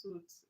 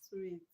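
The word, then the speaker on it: suite: I'm glad you guys already know that this word is not pronounced suit. Is sweet. Okay. Sweets. All right. The hotel sweet, not hotel. The hotel suit. Sweets. Good. S I T is pronounced sweet. The same way you pronounce sweet.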